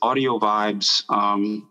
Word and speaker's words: Audiovybez: Well, just to be clear, like it's Audiovybez, and it's all one word. It's spelled audio, then VYBEZ.